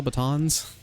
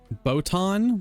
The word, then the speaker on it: baton: Because botan, the way you're saying it, is like botanical. A baton is a bat-on.